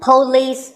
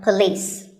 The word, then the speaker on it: police: number six is police this isn't police or police it's pa and lease with the stress on lease so police the next word is